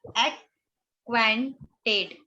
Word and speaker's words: acquainted: इसका correct pronunciation है एक्वेंटेड.